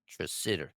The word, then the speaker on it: Tresidder: that's a fucking hard because it's not spelled the way it sounds, not the way it's spelled and shit. So it fucks me up. Tresidder.